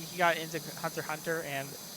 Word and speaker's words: Hunter x Hunter: like he got into Hunter x Hunter, and he pronounced the X. I told him that it was pronounced Hunter x Hunter, you uncultured swine!